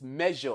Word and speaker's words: measure: That word is written as S, but it is pronounced as ja, like you have in pleasure. So it is measure, and this is the sound that is used to represent it.